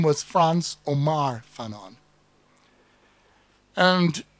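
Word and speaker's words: Frantz: fact his name was France Omar Fon and the France with the TZ was to pronounce his name the way the alaan say France was France at Omar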